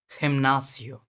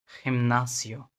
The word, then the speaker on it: gimnasio: लेकिन जब ये ई और आई के पहले आता है, जैसे सी आता था, तो इसका प्रोनाउंसिएशन एच होगा, kind of H, like gente, gente, Argentina,